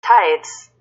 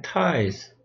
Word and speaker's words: tithe: Tithes. Tithes. 그냥 tithes. Tithes. Tithe 이렇게 발음합니다. Tithe, th 발음이잖아요.